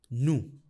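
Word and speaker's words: nous: no V that's because in French when a word ends in a consonant usually the consonant is silent the exceptions to this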